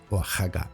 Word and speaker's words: Oaxaca: se debe a que la letra X que aparece en la forma escrita de este y otros topónimos americanos, Oaxaca y Texas, conserva el valor que tenía en épocas antiguas del idioma, en las que representaba el fonema que hoy corresponde a la letra J.